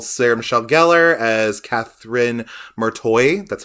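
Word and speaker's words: Marti: have good old Sarah Michelle Geller as Catherine martoy that's how you say her name apparently Ryan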